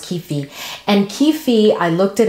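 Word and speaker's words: kyphi: And then there's, I don't even know how to pronounce it, but I think it's pronounced kefi.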